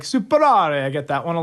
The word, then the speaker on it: SupeRare: Okay, so we pronounce it SupeRare, just to clear that to everybody. I do love that people argue. So people like SupeRare or like SupeRare.